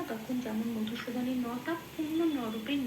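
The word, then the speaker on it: মধুসূদন: যখন হসন্ত থাকবে না তখন যেমন মধুসুদানের নটা পূর্ণ নরূপে ন বলে উচ্চারণ করতে হবে।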